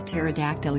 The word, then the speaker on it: pterodactyl: hear it when a pterodactyl uses the toilet the p is silent what did the first